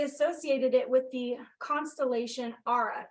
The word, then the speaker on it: Ara: skyline um they Associated it with the constellation Aura it's spelled ARA if you want to look up